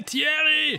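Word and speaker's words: Thierry: Say Tierry. Hey, Tierry. It's me, Jerry. That's how it's pronounced in English.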